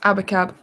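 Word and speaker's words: Abacab: i have got um it's pronounced abba cab i'm sorry wishbone ash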